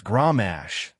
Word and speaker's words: Gramash: "Your pronunciation's off. It's Gramash," with a heavier guttural sound.